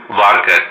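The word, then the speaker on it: VARCHAR: उसके बाद यहाँ पे वारकर। अब देखिए इसको वेरकर भी बोलते हैं या वारचर भी बोलते हैं, आपको जो भी इसको बोलना है वो आप बोल सकते हो। मैं इसको वेरकर ही प्रोनाउंस करूंगा।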